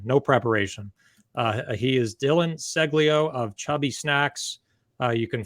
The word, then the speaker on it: Ceglio: I was pronouncing it Ceglio, and so we hopped on here. Again, no preparation. He is Dillon Ceglio of Chubby Snacks.